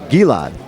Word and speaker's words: Gilad: Gilad, that's pronounced correctly. Gilad.